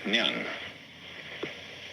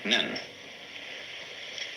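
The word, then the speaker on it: 念: It's pronounced nyan, in Japanese, nen.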